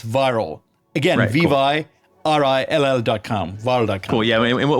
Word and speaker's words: Vyrill: By the way, the word viral it's a play on the word virality. Videos go viral, but it's spelled a little bit differently. It's VYRILL. So it's viral.